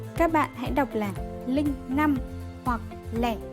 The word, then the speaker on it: linh năm: Các bạn hãy đọc là linh 5 hoặc lẻ 5 và đừng đọc là linh 5 hay lẻ 5.